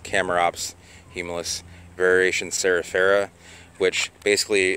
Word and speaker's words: Chamaerops humilis: of shamrocks Hema humilis R should be pronounced camera ops he Milus variation Sarah Sarah which